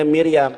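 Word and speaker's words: מרים: ini memamiram Miram ya Miriyam ya iam memnya ada Hirik restnya ada Sefa yut-nya ada Khamad memofit dibacanya Miriyam Miriyam siapa Imo.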